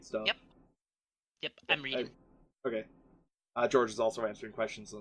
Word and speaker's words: Georg: also, are we pronouncing your name right? Rhett? No, George.